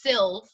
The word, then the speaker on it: Silv: a y and then my last name is silv like the color silver without the er so if you remember those two things you'll always say my name right camry sylv well welcome it's good